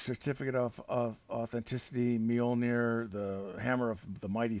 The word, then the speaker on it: Mjölnir: hammer of Mighty Thor mjolnir as they say mjolnir I used to pronounce it as m joner when I was a